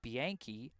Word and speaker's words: Bianchi: The catcher, number 17, is pronounced James Bianchi.